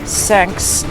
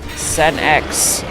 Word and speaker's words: Senex: His wife is Senex. Not Senks, not Kenks, Senex.